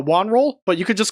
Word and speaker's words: WonRull: don't know okay well it's it's pronounced uh Wan roll but you could just